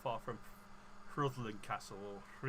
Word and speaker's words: Rhuddlan: you're into the castles, it's not far from Rhuddlan Castle, or Rhuddlan Castle as I should pronounce it.